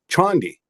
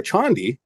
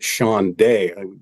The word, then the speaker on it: Chande: It's the Chandi Momentum Oscillator, spelled Chande. It's a gentleman from India named Tushar Chandi, but apparently some people think he's French and they pronounce it Chande.